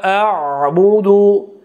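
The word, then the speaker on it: أَعْبُدُ: Ayın ortaça miktarda demek sıkılış bilen telaffuz kılınadı. La a'budu, a'budu, a'budu.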